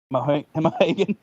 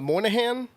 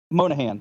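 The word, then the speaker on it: Monaghan: And this last one, this one's going to be hard to pronounce. Oh, it's just Carlos Santana. It's Dominique Morgan Monahan. Oh, Moynihan? Monahan.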